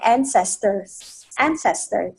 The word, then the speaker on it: ancestor: We wouldn't be who we are without our ancestors. But family is far bigger than just the here and now. We wouldn't be who we are without our ancestors. Ancestor. Trọng âm đầu.